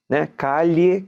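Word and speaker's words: calle: como rua rua espanhol você escreve se a l l e Kali k de maior parte dos países da América Latina falando como se fosse um som do Y né k e beleza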